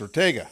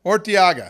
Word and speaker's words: Urteaga: Now, the gringo pronunciation is Ortega. Yes, sir. Right? And so Spanish? Urteaga. Urteaga. Yes. So it starts with a U. It starts with a U, that's correct.